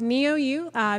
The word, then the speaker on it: NeoU: I mispronounced it several times. I felt so bad. Okay. So it's NeoU.